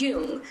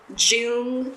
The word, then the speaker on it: Jung: to say correctly was, "It's pronounced yung to nearly every doctor who read my name off their list and left a slew of Jun Jung."